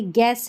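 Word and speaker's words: guess: देखिए यहां पर देखिए गेस है। गेस में जी यू के बाद ई आ रहा है तो यू का उच्चारण नहीं है।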